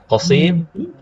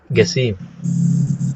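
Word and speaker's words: قاسم: Ya, qasim, gasim. Qarib, garib, ya, garib, qarib. Itu maksudnya huruf qaf. Jadi jangan bingung ya. Kalau umrah misalkan orang bilang garib, maksudnya qarib. Ya. Ini qaf dibacanya menjadi ga. Ya.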